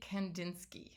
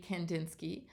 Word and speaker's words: Kandinsky: Let's meet a guy named Wassily Kandinsky. Here's a picture of Wassily Kandinsky.